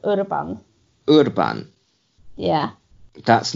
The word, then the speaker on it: Urban: Urban like in Iber, but Urban.